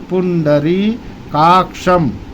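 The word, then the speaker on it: पुण्डरीकाक्षम्: फिर बोलना है पुन डरी आराम आराम से डरी बोलेंगे ड्री नहीं बोलेंगे पुन डरी काक्षम पुंडरी काक्षम य हस्मरे पुंडरी काक्षम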